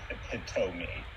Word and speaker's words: epitome: It's because becomes an O sound. Epitome. Well, it's because of where the base is from, like the etymology, and it's Greek. It's 100% from a Greek. So, I don't know how to say it, but Greek's got some weird pronunciation in terms of, like, how, like, the last vowel is pronounced, you know?